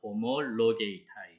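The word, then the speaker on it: ὁμολογεῖται: 지난 시간에 제가 잘못 읽은 부분이 있어서 바로잡아요. 요 단어인데 발음은 호모로게이타입니다. 호모로게이타이.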